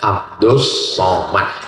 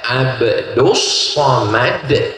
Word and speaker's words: Abdul Somad: Namanya Abdus Somad. Tulisannya Abdul Somad tapi cara bacanya Abdus Somad.